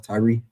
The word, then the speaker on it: Tyre: parallels of Babylon to and we pronounce it, Tyre, Tyre, and it is pronounced Tyre, man.